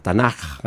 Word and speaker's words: Tanaj: eh Nada más que se pronuncia como una J tanaja una J ahogada verdad como históricos eh